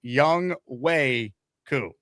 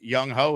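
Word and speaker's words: Younghoe Koo: It is Young Wei Koo. Even though it looks like it's Young Ho, it's Young Wei.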